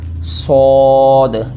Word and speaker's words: صاد: ٹھیک ہے، شین، صاد، یہاں پر مسٹیک کیا ہوتی ہے، بعض پڑھتے ہیں سواد، سواد نہیں ہے یہ ہے صاد، اگر آپ اس کے